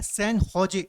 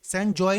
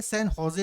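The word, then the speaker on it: San José: की कैपिटल क्या है सन होजे सन जॉय नहीं पढ़ेंगे सन होजे इसको प्रोना प्रोनाउंस करते हैं और पनामा की कैपिटल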